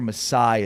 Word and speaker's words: Masai Ujiri: I'm pretty sure Masai is right. Masai is definitely right. Masai Ujiri.